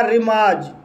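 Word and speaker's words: remorse: शब्द है रिमार्ज, जो इस स्टोरी में गलत तरीके से लिखा गया है, इसका सही लिखने का तरीका ये है, इसका सही उच्चारण होगा रिमार्ज।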